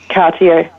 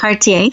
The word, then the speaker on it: Cartier: Can you pronounce it for me? Cartier, yep, correct. Cartier, thank you, Publishing.